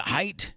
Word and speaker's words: height: or height height height is it height yes okay cuz I've been saying it wrong all my life that's right it's height